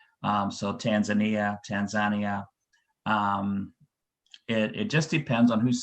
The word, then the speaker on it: Tanzania: Now, I've heard it pronounced two ways, Tanzania and Tanzania. Why? Tanzania is the A is in Swahili. And so sometimes you'll hear Tanzania mainly by people who speak Swahili because A is always it's not a long A.